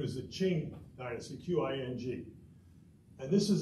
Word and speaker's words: Qing: of the Qing Empire q i n g is pronounced Ching you know them from